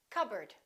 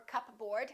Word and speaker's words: cupboard: my receipt psychology psychic one more cupboard don't say cup bird or cup board say cupboard my kitchen cupboard silent s arkansas illinois